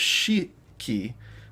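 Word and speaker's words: 四季: which is interesting because shi is how you say 4 in some respects, and yon is how you say 4 in others. And it's a little bit like you have to just remember there's no hard fast rule. So the fact that it was shi-ki, not yon-ki, is kind of interesting.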